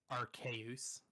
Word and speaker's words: Arceus: of arceus or what's it called yeah legends arts he is yeah that's part it has like sorry legends are chaos that's official pronunciation or whatever i'm hoping it's like a